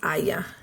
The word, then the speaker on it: haya: So if you remember, it rhymes with vaya, and it's haya. And it's always going to be just haya.